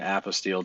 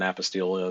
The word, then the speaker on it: apostille: holy they bound it with the ribbon and apostilled it and then stamped it on top of